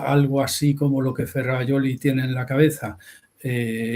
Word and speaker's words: Ferrajoli: Ferrayoli se escribe Ferrajoli.